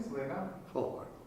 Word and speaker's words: Fullhardt: How do you pronounce it correctly? So they know. Fullhardt. Fullhardt.